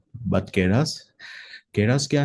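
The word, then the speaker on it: Keras: ठीक है, तो प्रोनाउंसिएशन सबका अलग अलग हो सकता है, बट केरास, केरास क्या है?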